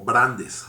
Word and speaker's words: Brandes: llamado George Brand eh Bueno creo que es como brandes realmente pero se pronuncia Brand no como que empieza a